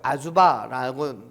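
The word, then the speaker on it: עזובה: 이 버림을 당하다라는 의미의 히브리어가요, 아주바라고 발음해요. 아자와 비슷하죠.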